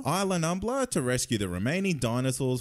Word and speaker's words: Isla Nublar: I butchered that, didn't I? How is that said? Isla Nublar? Isla Nublar to rescue the remaining dinosaurs from an extinction-level